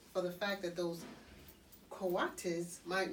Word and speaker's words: coatis: These are coatis, Miss Brisbane said, reading from the letter, pronounced coatis.